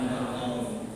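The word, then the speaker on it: النوم: As-salatu khairum minan naum. Awas bacanya jangan salah. As-salatu khairum minan naum. Jangan naumnya jangan panjang.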